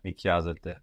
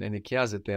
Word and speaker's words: νοικιάζεται: So, again, sounding the same as you plural meant, but spelled with the AI ending, like the verb είναι, νοικιάζεται.